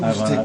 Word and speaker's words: Ivana: We should do Ivana. Thank you. Ivana. Oh, I said it right. You had it right the first time. Ivana.